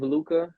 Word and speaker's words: Leuca: Yeah, so for those of you who do not know me, I go by the name of Luca. That's spelled Leuca.